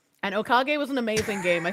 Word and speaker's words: Okage: Actually, Craigsley, it's pronounced Okage. And Okage was an amazing game.